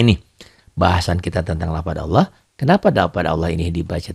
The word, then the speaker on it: Allah: dibaca tipis kenapa tuh Hai karena sebelum lafadz Allah ada huruf-hurufnya Mas aja kebetulan sini hurufnya bak